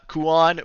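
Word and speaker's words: Kuon: up uh the uh total that you saw Kuan which by the way is spelled k-u-o-n because I know y'all were I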